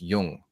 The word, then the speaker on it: Jung: It's pronounced Jung.